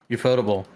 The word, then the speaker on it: Ufotable: Ufotable. Oh, okay. I think you pronounce it as UFO table. That's how they want to. Oh, UFO table. Okay. Yeah, I that's how no, I thought it was Ufotable.